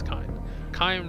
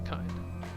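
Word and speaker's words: kine: oh no it's kind it's kind rhymes with swine and you will get the picture it's kind at first he proclaims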